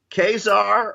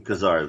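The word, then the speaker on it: Ka-Zar: I've heard I've heard comic creators pronounce them kazar though really yeah I pitched Marvel a kazar miniseries back in the day it would have been for their max line and the editor kept pronouncing him kazar and now I you know not to tell you your business you're employed by Marvel but I think you're pronouncing alright anyway so we have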